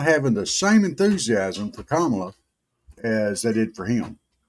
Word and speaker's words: Kamala: It's Kamala Harris. She doesn't like it when you get her name wrong.